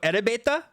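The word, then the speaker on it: エレベーター: this let's see uh so ele beta that's elevator that is that is the per the same pronunciation as the English elevator so they invented an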